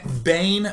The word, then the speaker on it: Bane: Leah so see B Bane very easy to do rhymes with Kane sounds like Kane all the same my plan was to